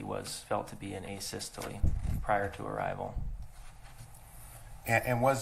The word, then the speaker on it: asystole: about and have you explained to the jury a systole i think is called um am i pronouncing that right by the way asystole yeah